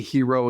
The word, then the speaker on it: hero: Could you say hero again? Hero? I like that. Because I say hero. Joe- I say hero. Oh, But you say what do you say? hero. Hero. You accentuate the he.